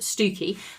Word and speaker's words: Stiffkey: Well, it's written Stiffkey Blue. It could be pronounced Stoo-key Blue.